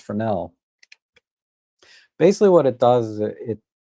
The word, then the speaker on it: Fresnel: a Fresnel lens it's spelled Fresnel, but it's pronounced Fresnel.